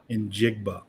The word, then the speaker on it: Njigba: Njigba. Yes. Okay. So you say the letter N, and then you just say Jigba. Okay. Yeah, there you go. All right. Spelled like it sounds.